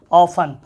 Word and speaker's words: often: और OFTEN क्या होता है, ऑफन, ऑफन मतलब क्या होता है, ऑफन, प्रायः या अक्सर, अक्सर, ऑफन मतलब प्रायः या अक्सर।